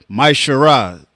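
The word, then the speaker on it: מעשר: Malachi 3 8 through1 it means a tenth in Hebrew and it's pronounced myar 10% of every penny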